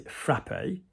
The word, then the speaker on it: frappé: If you're going to pronounce it and you don't say frappé, it's you're spitting from a bridge.